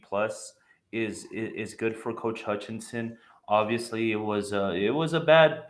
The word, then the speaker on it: Hutchinson: All right, going up the table, it's been like almost a half a season of Coach John Hutchinson. I'll get it right one day. Hutchinson, did I say it right, Yeah, Joe?